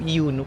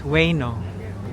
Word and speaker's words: Ueno: Alam mo ba, ang dating bigkas ko dito, Iuno Park. Iuno. You know? Oo. Tapos tinawanan lang ako ni Afam. Kasi hindi na kinorek. Oo, hindi kinorek niya naman ako. Sabi niya, It's Ueno. Ueno.